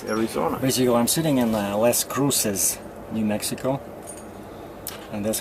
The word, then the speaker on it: Las Cruces: New Mexico, and that's how the girl at the counter pronounced it. I asked her, I said, so how do you say it, Las Cruces or Las Cruces? And she looked Spanish, you know, and she said Las Cruces.